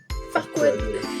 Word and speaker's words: Farquaad: Lui, comment ça se prononce? Farquaad.